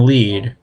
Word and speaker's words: Lied: it or at least heard of it elephant lead or lied for some reason it's spelled but pronounced lead I don't know I found this show to